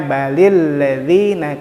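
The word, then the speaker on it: بَلِ الَّذِينَ: Makanya ada kaidah yang menjadikan lam bersukun ini menjadi kasrah, dibacanya balil ladzina kafaru yukadzibun.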